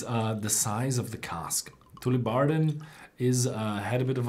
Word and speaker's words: Tullibardine: And if you see those Gaelic names like Auchentoshan, Tullibardine, Bunnahabhain, they are all pronounced on the second syllable.